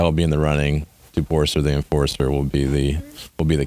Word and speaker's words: Toporcer: My last name, Toporcer the Enforcer. Ooh, That's a good one. That's the Now, best one clever, yet. Yeah. We finally found something to rhyme with my Slovak last name.